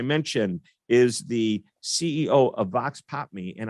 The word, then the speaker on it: Vox Pop Me: is the ceo of vox pop me and i learned that that is uh actually the or the pronunciation is vox pop me but the definition is